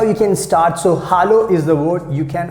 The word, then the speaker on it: hallo: useful you know that h a double l o that means in german language we pronounce hallo hallo that means you can